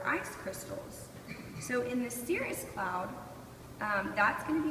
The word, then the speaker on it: cirrus: me good try good try well actually it's pronounced cirrus and this is going to be a good